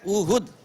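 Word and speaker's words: اُحُد: जी professor साहब तमाम लोग ही इसे गलत बोलते हैं। यह लफज़ ओहद नहीं है। यह लफज़ है उहुद। अलिफ के ऊपर भी पेश है और हे के ऊपर भी पेश है।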